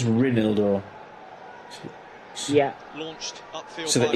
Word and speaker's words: Reinildo: How do you say his name? Because he just called him Reinaldo. I'm saying Reinaldo. So didn't need the trainer on, but stopped the break. That's what you call experience. Reinildo. Reinildo. It is Reinildo.